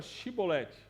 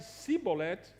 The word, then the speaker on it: Shibolete: Se dizia que não, então lhe pediam que dissesse a palavra Shibolete. Se, no entanto, dissesse Sibolete, porque não conseguia pronunciar corretamente a palavra, eles o prendiam e o matavam na passagem do Jordão.